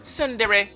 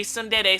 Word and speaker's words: tsundere: Actually, it's pronounced tsundere, although a lot of YouTubers say tsundere, so Tsundere is a